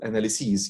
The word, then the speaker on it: analyses: So analysis and analysis, it's one analysis, and it's pluralized as analyses. You see how I pronounce it? Analyses, analyses, long vowel.